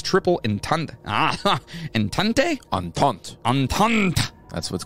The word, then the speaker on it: entente: across multiple fronts while isolated from its triple entente. Entente? Entente. Entente. That's what's called a triple entente. No, that's exactly how it's pronounced.